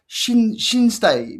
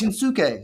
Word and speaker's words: Shinsuke: Like Shinstei, but it's Shinsuke. Like, how do you get? Where's the T come from? Shinsuke.